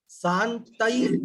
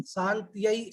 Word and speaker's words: शान्तये: एक जगह थोड़ी अशुद्धि, शांतई शांत्यई ऐसा कुछ आपने उच्चारण किया, वो है शांत्यई। शांत्यई, श के बाद आधा न आधा त, फिर य, उस पर आई की मात्रा है।